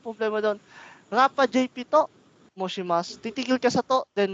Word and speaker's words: 申します: Bigkasan natin yung shi doon, sir. Hindi po moshi yun, sir. Moshi po. Moshi. SHI po yan, no?